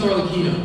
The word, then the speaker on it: Arlecchino: We had everyone's favorite daddy, Arlecchino. Arlecchino. It's actually pronounced Arlecchino, we found out.